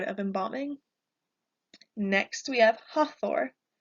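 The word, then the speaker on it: Hathor: embalming next we have ha Thor an easy way for me to remember this one is to think about the Avengers so you have ha Thor hath or hot war is the goddess of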